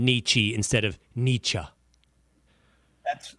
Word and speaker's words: Nietzsche: I've never really known how to pronounce it. I know it. Nietzsche, something like that. Nietzsche. I think you can say Nietzsche.